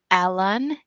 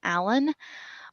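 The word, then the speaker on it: Alun: we're getting I think his name is pronounced alen it's a l u n Allen um he is flying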